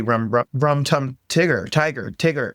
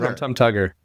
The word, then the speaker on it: Rum Tum Tugger: I'm going to be Rum Tum Tigger. Well, how do you say it? Tugger. Rum Tum Tugger.